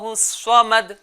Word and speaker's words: الصمد: صحیح تلفظ کیا ہے؟ اللہ الصمد.